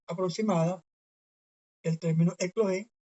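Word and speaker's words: ἐκλογήν: Este sería la pronunciación aproximada del término eclogen.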